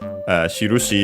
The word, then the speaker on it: shirushi: We have seen it before again because last time for the Pokémon no shirushi, so Pokémon signs, shirushi is unaccented by the way.